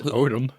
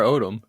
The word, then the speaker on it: Odom: have Leslie odam Jr I think it's odm I mean sure don't say Lamar odam It's Lamar Odom I just over pronounced it leave me alone